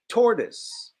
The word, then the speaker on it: tortoise: tortoise I know it looked like tortoise we pronounce it toward this tortoise so on land we say tortoise in the